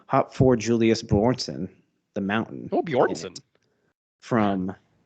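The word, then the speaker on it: Björnsson: I'm gonna mispronounce his name. Hop for Julius Bjornsson, the Mountain.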